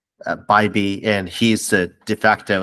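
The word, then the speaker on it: Bibee: Is it Bybee or Bibby? Bybee, and he's the de facto ace now that So, Shane Bieber's been shut down.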